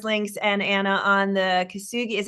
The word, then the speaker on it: Kintsugi: That was Ariana on the DC Labor Course links and Anna on the Kintsugi. How do you say it? Kintsugi?